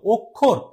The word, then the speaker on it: অক্ষর: কিন্তু এখানে উচ্চারণ হচ্ছে না উচ্চারণটা কেমন হচ্ছে উচ্চারণ হচ্ছে ও এর মত অক্ষর অক্ষর আবার এখানে যেহেতু পস দিয়েছি তাহলে এখানে